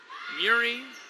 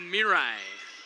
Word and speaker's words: Mirai: I got about 3 or 4 pronunciations of her name before the game started, and I was told Mirai. I was told Mirai, Muri. So we're going to go with Mirai.